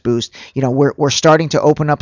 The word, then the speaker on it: Buiced: So again, spelled like the word juiced, but pronounced Boost.